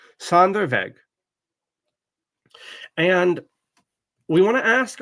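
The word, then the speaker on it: Sonderweg: Sand veg. The W is pronounced like a V in German. Sandereveg.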